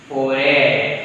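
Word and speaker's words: forêt: Foray. Correct. Foray. Because this is silent, you know, and A will be pronounced A.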